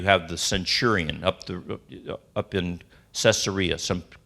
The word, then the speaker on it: Caesarea: 10, where you have the centurion up in Caesarea, some pronounce it Caesarea.